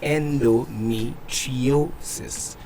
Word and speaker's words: endometriosis: And I know for most people that have a name have an issue pronouncing that name, endometriosis.